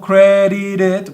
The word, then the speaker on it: credited: En este caso digo credited porque cuando tenemos un verbo que es terminado en este sonido de la T, yo voy a pronunciar la ed como id.